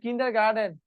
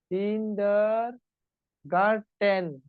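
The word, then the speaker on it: kindergarten: tuition যেমন ও বলছে কিন্ডারগার্ডেন কিন্ডারগার্ডেন কিরকম সবাই জানে কিন্ডার গার্ডেন এটা এরকম কিন্ডার গার্ডেন বাট এটা ফুল এটা হবে কিন্ডার গার্ডেন কিন্ডার গার্টেন গার্ডেন না গার্টেন আমি আপনার কৃতজ্ঞ বলেন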